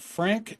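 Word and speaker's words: Phranque: Apparently, it's named Frank and not the way you would think it's spelled. It's uh essentially like what if you said we make this hilariously French. So, it's P H R A N Q U E.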